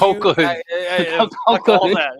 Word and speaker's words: Colquhoun: It's a bit like Colhoun. That K does not belong. There's a Q. Colquhoun.